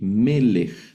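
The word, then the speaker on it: מֶלֶךְ: Y esta palabra se lee melej, ese sonido de J al final.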